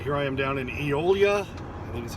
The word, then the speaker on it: Eolia: channel all right here i am down in eolia and this is how you say it e-o-l-i-a